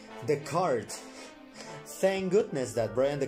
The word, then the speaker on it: Dechart: what let's have a look how does brian pronounces his own name let's find out the cart thank goodness that brian the cart the car not the shard because initially it was pronounced in the name